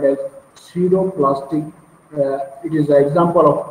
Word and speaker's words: pseudoplastic: they are called as pseudo plastic their p is silent so we will write